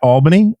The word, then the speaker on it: Albany: he's a professor at the State University at Albany I've been told that that's the correct way